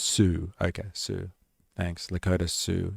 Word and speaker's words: Sioux: I believe it's pronounced Sioux. Okay, Sioux. Thanks. Lakota Sioux encampment. Endless cycles of exploitation. Well, an ALP premier. Sioux, like the dinosaur. Sioux. Ah, okay, Sioux.